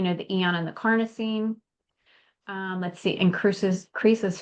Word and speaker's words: carnosine: it um I know people were saying carnitine and all you know it's it's a whole bunch of different ways to pronounce it but it's carnosine and it just has so many different properties and benefits with it.